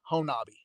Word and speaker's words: Honobia: he's in Hona, Honobi? and you spell it Honobi. Honobia. It looks like Hanobia, but locals it's Honabi.